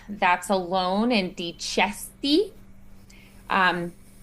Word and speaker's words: dicesti: Um, that C is going to be the CH sound, ch. And why is it that CH sound? Well, it's alone, so it's going to be different than like the bocca, but also it's the vowel that follows it, that E afterwards. So chesti.